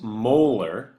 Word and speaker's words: molar: We pronounce this molar, like your teeth, first of all.